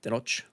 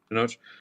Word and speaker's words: Tenoch: about apparently like the actor, how do you pronounce his name? I want to make sure I have it right. Tenoch? Tenoch? Yeah, Tenoch. Tenoch.